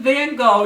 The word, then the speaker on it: Van Gogh: an artist named Vincent Van Go now there are different ways to pronounce it but since I'm in America and I speak English I'm going to use the Standard English pronunciation van go and uh